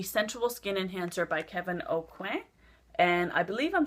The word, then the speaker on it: Aucoin: I have a friend, Candy, that's a stickler for the pronunciation of his name, and I believe you're not supposed to say the N, so I hope I did that right.